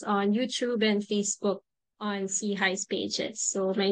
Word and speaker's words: SIHI: Innovation and heeld initiative SEI for short pronounced as SE High which means upward and